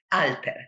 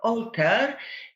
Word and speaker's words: Alter: And in Polish, the name of the main character and also the title of the book is pronounced Alter. So excuse me if I sometimes switch to the Polish pronunciation. It's similar to the Italian one, isn't it?